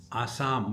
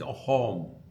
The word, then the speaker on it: Assam: In Assam, the sa is pronounced as ha. It is not Assam, we say, it's a home.